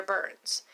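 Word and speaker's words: Byrnes: again is and my last name is spelled B yr n es it's burns and you will see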